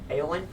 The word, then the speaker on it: Éowyn: Again, it is pronounced Éowyn.